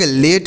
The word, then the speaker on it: late: अगला है LATE। तो एल से लो, ए से की मात्रा लिखेंगे, टी से ट हो गया, ई का उच्चारण नहीं करते हैं।